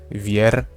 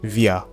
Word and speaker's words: wir: And okay, the pron pronunciation of these two are really important because you don't say uh vier or something like that. You say via okay via is v.